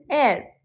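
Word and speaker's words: heir: sounds like like honorable and air H is silent so pronounced as air and honest man again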